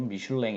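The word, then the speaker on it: Michelin: 이라는 것 어 어 영어식 표현으로 미샤 우연히 고 아 프랑스식 빨 발음으로 미슐랭 입니다 미술 라인 미술 외에는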